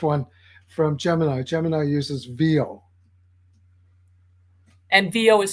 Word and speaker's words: Veo: Gemini uses VO. And VO is spelled VEO.